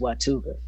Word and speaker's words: Watauga: She says it's pronounced Watuga.